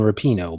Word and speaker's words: Rapinoe: And it's Megan Rapinoe, by the way.